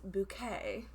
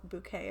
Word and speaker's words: Bucket: it's about hyacinth bucket who likes to pronounce her last name as bouquet and i guess i